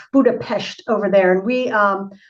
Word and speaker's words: Budapest: Well, they they say Pesh, Buddha Pesht over there.